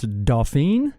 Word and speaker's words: Dauphine: I'm the drummer, and it's Dauphine. Dauphine? Yes.